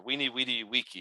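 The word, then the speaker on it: veni vidi vici: the the inscription here it says Amalia Vini vidi Viki or we need weedy Wiki if you want the the um the proper Latin pronunciation uh this is of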